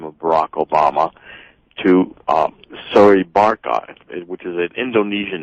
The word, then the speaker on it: Soebarkah: So it's soy. The E is strong, Soebarkah.